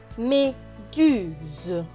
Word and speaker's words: méduse: Alors là, le S ne va pas se prononcer S, mais Z, puisqu'il est entre deux voyelles, le U et le E.